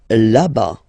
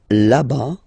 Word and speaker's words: là-bas: Là-bas, là-bas. Remember, final S not pronounced.